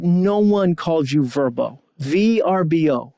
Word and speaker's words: VRBO: Although VRBO, they came out and were like, no, our name is pronounced Verbo. Dude, no one calls you Verbo. VRBO, like Airbnb, VRBO.